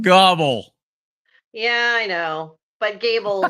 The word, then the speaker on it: Gabel: last name it's it's Goble but I say Gable because it's easier for everybody it's German and it's actually pronounced Goble yeah I know but